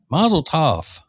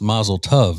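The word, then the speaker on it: mazel tov: Masletoough. It's actually pronounced masletov.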